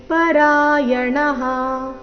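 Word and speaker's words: ಪರಾಯಣಾಃ: ಚಾತಿ ತರಂತ್ಯೇವ ಮೃತ್ಯುಂ ಶ್ರುತಿ ಪರಾಯಣಾಹ ಮೃತ್ಯುಂ ಶ್ರುತಿ ಪರಾಯಣಾಹ ಇಲ್ಲಿ ಪರಾಯಣಹ ಈ ರೀತಿ ಬೇಡ ಣ ದೀರ್ಘ ಹೇಳಿ ನಂತರ ವಿಸರ್ಗದ ಉಚ್ಚಾರಣೆ ಹೇಳಬೇಕು ಪರಾಯಣಾಹ ಈ ರೀತಿ ನೋಡೋಣ ಪೂರ್ತಿ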